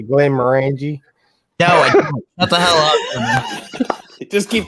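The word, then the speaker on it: Glenmorangie: pronounced oh i will glenn meringue it's i asked him how it's pronounced it's not how it's pronounced he's got glenn maranji mate oh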